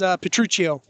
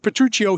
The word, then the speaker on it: Petrucci: It's spelled Petruccio here, but it's Petrucci.